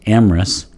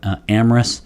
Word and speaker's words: Amyris: going to go with amorous and i'm going to swallow up that little y in the middle just like we would